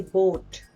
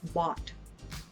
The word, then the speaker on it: bought: And also with the words bought, they would always say boat. Naging boat, para na siya naging bangka na, naging boat. Ganon. Like, no, not boat, but bought. Bought, ganon, bought.